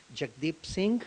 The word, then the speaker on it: Jagdeep Singh: On South Asian Business Profile, today I've got a real estate agent, Jagdeep Singh, who is with Century 21 New Star Realty.